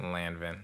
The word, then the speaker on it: Lanvin: but not um how are you pronouncing this again lanvin okay landing is so simple it's phonetic like l-a-n-v-i-n lanvin is like going [